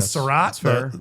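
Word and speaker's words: Sarratt: And Sarat, the wide receiver. Hopefully I'm pronouncing that right.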